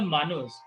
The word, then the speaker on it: Manu: Manavastata, and the Manus. The Manus are the lawgiver. We pronounce Manu.